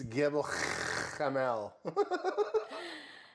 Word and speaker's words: Gebel Kamil: It's Gebel Kamil.